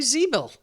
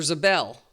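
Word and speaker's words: Ziebell: strong now is um Alli Zebel or Zabel. They said Zabel on the uh I thought that might be the way it's pronounced. Zabel, she is I mean unorthodox shot from the side, but it goes in.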